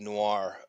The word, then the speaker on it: noir: I froze when you said noir. N-O-I-R. Yes. By the way. Right? Right? Yes. Do we get that? Noir. Correct. Say it like an Australian. Say it like an Aussie. Noir.